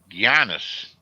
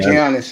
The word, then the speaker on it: Giannis: If they could add a player, you know, they're supposed to be able to trade for Giannis. That's how you pronounce his name? Milwaukee. Yeah, Giannis.